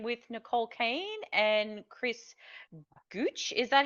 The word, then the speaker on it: Gooch: So, you're here chatting with Nicole Kaine and Chris Guch. Is that how you pronounce it?